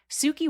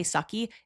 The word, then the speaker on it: Suki: relationship with FKA Twigs, Suki Waterhouse with I'm so sorry, I'm hooked on phonics. Anytime I see the word, I want to say sucky. I know it's Suki.